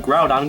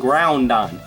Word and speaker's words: Groudon: My past self must have been learning from the kids that called Groudon Groundon. Do you see two N's in its name?